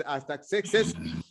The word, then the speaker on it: Artaxerxes: I don't know, people pronounce it differently, but in French it's Artaxerxes.